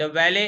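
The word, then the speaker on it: valet: द वैले इज not sure, वैलेट नहीं बोलते इसको, टी साइलेंट है।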